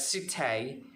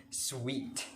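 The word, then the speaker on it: suite: is s u i t and e often pronounced as sutai or swete but it's not it's very wrong the correct pronunciation of this word is sweet this is or this our set of rooms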